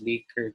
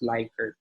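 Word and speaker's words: Likert: liquid scale always habit the pronunciation of this is liquid not like okay semantic scale or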